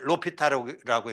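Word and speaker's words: L'Hospital: 하스피탈이라고 썼고 읽을 때는 로피탈라고 읽어요. 물어는 h가 무금이기 때문에 로피탈이라고 읽는데 로피탈의 정리라고 해서 요건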